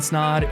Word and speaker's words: Snod: what's going on everybody my name is snod it rhymes with that and you're watching and